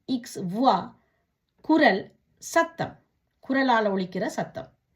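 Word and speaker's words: voix: வே ஓ இ இக்ஸ், வுவா, குரல், சத்தம், குரலால் ஒலிக்கிற சத்தம். கியூ யு ஓ இ, குவா, என்ன. பே ஓ இ தே எஸ், புவா, நிறுவை. இப்படியாக ஓ இ என்ற சத்தம் வரும் பொழுது உவா என்று உச்சரிக்கணும்.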